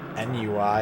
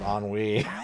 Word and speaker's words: ennui: I remember thinking that it was pronounced N-U-I instead of ennui.